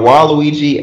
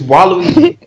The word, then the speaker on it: Waluigi: My favorite character are Waluigi and Luigi. Not in that order. Luigi, then Daisy, then Waluigi. The most. Luigi. Waluigi. Luigi. What is wrong with you? It's Waluigi.